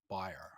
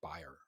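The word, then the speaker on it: Bayer: to the germans so bear aspirin buyer yeah we used to say bear lisa bear yeah but now but the pronunciation is like buyer no i'm gonna say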